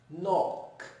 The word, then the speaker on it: knock: K and N, in which K is silent and we make the sound of N. Here are the examples: knife, night, knowledge, knives, knock, knee, and no.